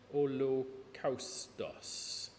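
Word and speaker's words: ὁλόκαυστος: Thing to remember is that in Greek, the upside down Y is the letter lambda, which is pronounced L. So you can read it, it says holocaustos.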